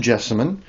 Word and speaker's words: jessamine: This is Jessimon. It's well, it's pronounced jesimon.